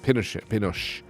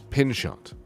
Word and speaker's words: Pinchot: chief forrester of the united states and gifford pinochet pinshot say his name yeah with the assistance of